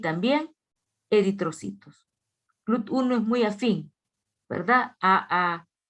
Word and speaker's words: GLUT1: Se dice GLUT1. No se dice GLUT número 1. No, GLUT1.